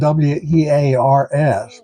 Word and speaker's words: Wears Valley: Now it's spelled W-E-A-R-S, but it's pronounced Wears, named for Samuel Wears, a Revolutionary War veteran.